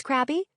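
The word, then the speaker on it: Crabbe: voice say, "Yes, Miss Crabby?" "It's Crab," she said, startled. "The E is silent.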